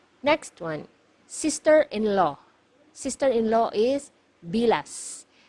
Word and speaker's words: bilas: this one MGA hiala you have to pronounce the letter S at the end because if you mispronounce it nearer to letter T it is actually it actually means the private part of a woman okay so make sure you pronounce the letter s it should be bilas okay next one illegitimate